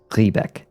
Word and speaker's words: Riebeck: The IE, if you ever see IE in German, it's the E sound. If you see EI, it's I. So if it was pronounced Riebeck, it would be REIBECK. But because, but it's spelled RIE, so it's Riebeck.